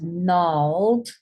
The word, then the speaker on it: gnarled: Now the G is silent in these words. So this is gnarled. And notice the pattern. There is an N next to it. The N sound is next to it.